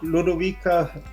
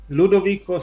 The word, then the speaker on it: Ludovico: titles in 1500 uh Duke Ludovic no ludovico starts US troops reconquer